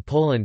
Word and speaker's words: Polin: Some Jewish historians have recounted that the word Poland is pronounced as Polania or Poland in Hebrew, and is transliterated into Hebrew.